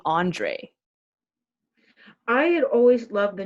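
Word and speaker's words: Андрей: Of course, in Russian, it's pronounced like Andrei. So, like most of the time we say Andre because we're thinking of like the French variation, which makes sense because,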